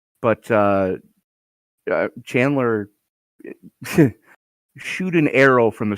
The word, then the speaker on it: Chandler: all right then chandler arizona that's not how you pronounce that but no that's that it's chandler yeah yeah um and